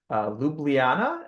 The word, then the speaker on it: Ljubljana: at the Faculty of Mathematics and Physics at Ljubljana. Am I pronouncing that right?